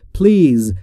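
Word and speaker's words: please: یعنی لطفا خواهشا و در مورد تلفظ پلیز دقت بکنید دوستان نگفتم پلیز یا نگفتم پلیز پلیز بین پی و ال صدایی وجود نداره ما هم صدایی نباید اضافه بکنیم در تلفظش پس میشه پلیز یعنی لطفاً خواهشا همین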